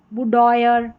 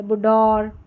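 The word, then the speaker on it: boudoir: फिर यहां पर है बुडोयर बुडोयर या बुडोर बुडोर इस तरीके से और करके थोड़ी टफ स्पेलिंग्स है ओ आई आर इसको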